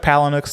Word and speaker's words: Palahniuk: How do you say Chuck Palahniuk's last name? Is it Palahniuk? That was right.